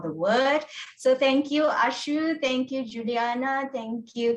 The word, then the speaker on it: Ashu: It is not Asus, it is Ashu. So please remember it's Ashu, not Asus.